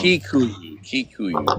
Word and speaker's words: Kikuyu: or could be like um Kikuyu. Okay, I'm gonna try to remember. I want you. Yeah, um but the I is pronounced like an E.